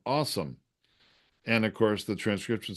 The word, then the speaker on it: OSOM: I'm not the best speller in the world, but his awesome is an acronym OSOM. It's just pronounced awesome.